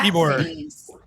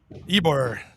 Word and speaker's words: Ybor: pronounce that, but that Tibor. Tibor? Ybor. I was going to say, where's the T? Ybor City's historic chickens are being kept safe from Hurricane Ian. Yes, the historic chickens of Ybor City, everyone.